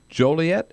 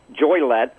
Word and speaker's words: Joliet: Or you could pronounce it Joylet. I don't think the people from Joliet would like that.